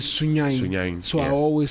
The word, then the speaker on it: Sunyani: So it's actually Sunyani is Sunyain.